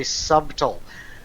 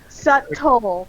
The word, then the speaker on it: subtle: difficulty saying even though it's really obvious that B is silent I owe a lot of times I say subtool uh subtle yeah I know Oh